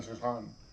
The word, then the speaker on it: Saint-Saëns: But then I also love Dance Macabre by Camille Saint-Saëns. I believe that's how you pronounce his name.